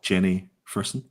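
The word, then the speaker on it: Jenny Frison: It's Jenny Frisson.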